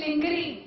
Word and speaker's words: lingerie: Lingerie is mispronounced in this country. Brassiers. It is lingerie.